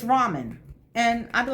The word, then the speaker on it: ramen: And especially if you know somebody who loves ramen. I said, Raymond, and the English teachers on the web corrected me.